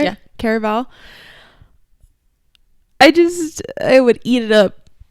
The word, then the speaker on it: Caraval: Caraval. Did I say it right? Yeah. Caraval.